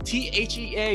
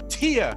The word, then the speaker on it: Thea: it with tia yes t-h-e-a is pronounced tia this whole time i